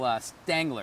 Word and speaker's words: Stangler: Bill Stangler, did I say it right? That's right.